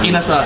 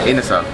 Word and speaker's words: Inasal: Inasal. Inasal.